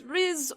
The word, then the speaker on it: R'issen: And it was It was risen, right? Yes, Riz or Risen. It is whatever is easier for your pronunciation.